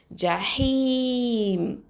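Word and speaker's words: جحيم: அடுத்தது பாருங்க ஜஹீம் ஜஹீம் ஜீம் பத்ஹா ஜ ஹ கசரா யா சுகூன் ஹி ஹி ரெண்டு ஹரக்கத்தை நீட்டணும் அடுத்ததா மீம்ல சுக்குன் வச்சிரணும் அப்போ ஜஹீம் ஜஹீம் ஓகே இப்போ இதை நான்காவது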